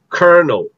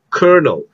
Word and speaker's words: colonel: actually pronounced as ha if you are going to use american english it's kernel kernel but if you're going